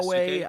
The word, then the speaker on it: Yasuke: Or yes, I can't pronounce these names at all. It's Naoe Yasuke.